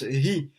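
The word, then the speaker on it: הוא: Et là on avait dit que le mot hi, donc il s'écrit comme hu, mais il se prononce hi.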